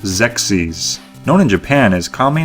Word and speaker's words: Xexyz: Okay, it's pronounced Xexyz.